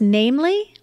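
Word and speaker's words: NAMLE: know about this organization I believe it's pronounced namely yeah that's right um so this is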